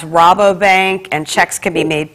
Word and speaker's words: Rabobank: Okay, I understand it's pronounced Rabobank, and checks can be made payable to the PNF Fire Victim Relief Fund.